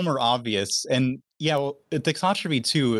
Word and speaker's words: thixotropy: Thixotropy.